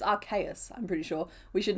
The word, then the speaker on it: Arceus: we should name it Arceus Flying. Oh, yeah, sorry, for that pun to work, I have to pronounce it Arceus. As in, like, I see us flying, right?